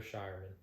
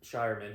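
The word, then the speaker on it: Scheierman: Baylor Shireman. Shireman.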